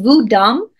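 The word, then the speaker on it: Vodun: legitimate or complex and vodam is actually the correct way to say Voodoo I will say Voodoo because that's what most people know it as that's what Hollywood created it to be but the the proper term is vodam West African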